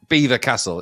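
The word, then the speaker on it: Belvoir: the nearby b and it's beaver castle it's spelt belfa but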